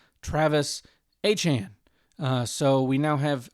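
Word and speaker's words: Travis Etienne: solid about is going to be Travis uh ETN who uh apparently it is not actually ETN. Uh he said this past week that his name is pronounced Travis Achan.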